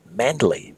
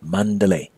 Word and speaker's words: Mandalay: spell and often pronounced Mandalay but in Burmese pronunciation it's Mandalay at any rate you